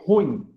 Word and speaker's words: ruim: a pronúncia correta é ruim tá ele forma Na verdade uma palavra de uma única sílaba tá então ruim e